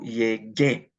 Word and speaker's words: llegué: And then I would put an E on it, yo llegué. But I have to include a U after the G to get a hard G sound.